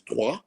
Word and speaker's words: Troyes: I think it would depend really, because just so that everyone knows, the pronunciation is Troyes.